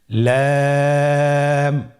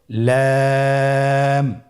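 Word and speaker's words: لام: লাম হরফটি উচ্চারণের ক্ষেত্রে অবশ্যই বারিক হবে এবং তিন আলিফ টেনে পড়তে হবে। আপনারা আমার সাথে বলুন লাম।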